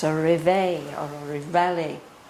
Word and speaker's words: réveillé: It's a réveil or a réveillé. This word is a French word. I think Sri Aurobindo meant it to be pronounced in the French way here.